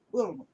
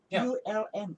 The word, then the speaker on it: Ulm: So I said Ulm, and I'm afraid of my pronunciation is bad, so I spelled out. ULM, Ulm. So officer said, "Oh, you are going to Ulm. Say Ulm." I said, no, Ulm. Good. Oh, I see. So he corrected my pronunciation, and we can go.